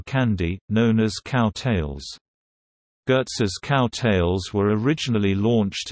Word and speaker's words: Goetze: Goetze's Candy Company, Inc., pronounced Goetze, is an American confectionery company based in Baltimore, Maryland and specializing in caramel-based candies.